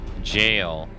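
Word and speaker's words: Gaol: the ciance hey man the world gal is pronounced jail I just gave up after that that's how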